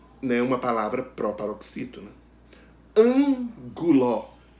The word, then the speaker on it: ângulo: Ângulo. É a antepenúltima sílaba. Então, se a antepenúltima sílaba é a sílaba tônica, a palavra ângulo é proparoxítona.